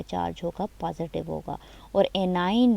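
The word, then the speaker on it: anion: Some students are even pronouncing it wrong, like केशन और एनियन, कुछ अजीब सा प्रोनाउंस भी कर रहे होते हैं, प्रोनाउंसिएशन को भी ठीक कर लिया करें। केटाइन, CAT, कैट से निकला है केटाइन, एंड एनाइन।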